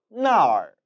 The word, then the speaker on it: 那儿: 那儿, 那儿. 这儿 이곳이었으니까 반대말 那儿은 저곳, 그곳이 되겠죠. 이 단어 역시 마찬가지입니다. 나와 얼, 전미사가 합쳐져서 那儿이 되었기 때문에 발음 역시 합쳐져서 변화가 일어난 것을 보실 수 있지요.